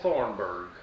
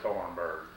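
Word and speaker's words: Thornburgh: Thornburg, Thornburg. or I sign O-R. My name, B-E-R-G, B-U-R-G. B-U-R-G-H, that H is silent on it.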